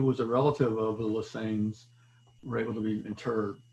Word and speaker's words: Lesney: I pronounce it Lesane.